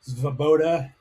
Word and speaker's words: Svoboda: Svoboda.